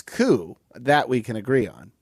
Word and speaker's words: coup: jump into this myanmar coo p is silent not a coop not a coup but